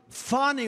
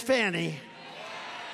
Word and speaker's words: Fani: You have a woman named corrupt Fani Willis. Fani. Donald Trump mocks her relentlessly here at a campaign rally last weekend. I believe it's spelled F-A-N-I. To my way of thinking, that's Fanny.